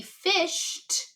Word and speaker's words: fished: And I hear t, but I'm going to spell it e d. Fished.